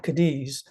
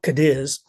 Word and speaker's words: Cadiz: beautiful beautiful place and Camp cadis uh actually they pronounce that camp Cadiz near Garden of the